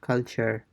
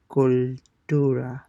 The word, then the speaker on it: cultura: cultura, So it's totally different from the English pronunciation, right? It's not culture, it's cultura.